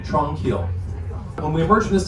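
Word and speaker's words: Tranquille: or tranquil tunnels and that's spelled kind of like the French version of the word tranquil t r a n q UI l l e Tron kill when we emerge from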